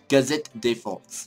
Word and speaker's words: Gazette de France: Gazette de France. That's how you say it. I wasn't saying it in the French accent.